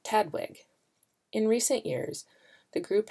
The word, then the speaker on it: TDWG: It was originally developed under the Taxonomic Databases Working Group, or TDWG, pronounced TADWG.